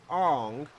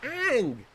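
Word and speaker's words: Aang: bad from the beginning they did pronounce Ang like it would be pronounced however the English Atlas show pronounced it differently am I not surprised why would why would they why would they force themselves to pronounce it properly right how hard it is man just say just say Ang don't say on don't say just say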